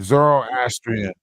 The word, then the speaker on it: Zoroastrian: Zoroastrian. Wait now wait. I just wanted you to pronounce the word for me.